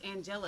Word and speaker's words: Angelic: here welcome Miss is it Angelique or Angeli okay I've only ever seen it spelled with a Q before so I see just like in the Bible after after Miss I have Kurt house and Linda Brandis so it's Angela please you have three minutes